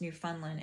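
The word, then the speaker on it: Newfoundland: look this up but I did look up new new fundland New Foundland is pronounced new Funland in uh Quebec Canada but com Kamchatka is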